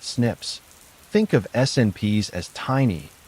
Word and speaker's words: SNP: These algorithms compare hundreds of thousands of single nucleotide polymorphisms or SNPs pronounced snips.